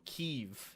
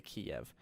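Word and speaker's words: Kyiv: think I think oh keev is how you say it in the Ukraine you say ke mhm um but obviously in the west we call it we say Kiev um because we can't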